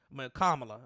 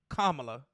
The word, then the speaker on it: Kamala: in front of Kamala kamla let me get her name right kamla I don't want nobody